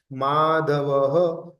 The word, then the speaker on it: माधवः: माधवः तो double dot आया। विसर्ग आया। अब जो डबल डॉट होता है ना उसको ह प्रोनाउंसिएशन करेंगे।